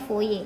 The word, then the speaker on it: Fourier: Ini bacanya Fourier ya, Fourier Law atau hukum Fourier.